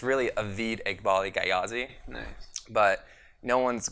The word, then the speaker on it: Avid Eghbali: So you are Avid Eghbali? Yeah. Am I pronouncing that? That is correct. Avid Eghbali.